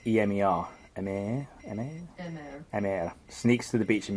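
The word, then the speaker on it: Emer: Emma sneaks to the beach. It's spelled E-M-E-R. Emir sneaks to the beach at midnight to swim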